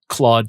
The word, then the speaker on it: Clawd: Claude spelled like lobster claw, CLAWD.